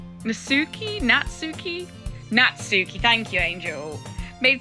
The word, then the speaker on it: Natsuki: How the do I pronounce his name? Chat. Nuki. Natsuki.